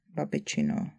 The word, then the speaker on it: babiččino: Tam jsou dvě vedle sebe a to je Babiččino jídlo. Nevyslovujeme to tak, že tam je jasně slyšet, že jsou tam dvě vedle sebe, takže to je Babiččino jídlo další to je sestřin oběd, takže se změnilo na tvrdá souhláska měkká.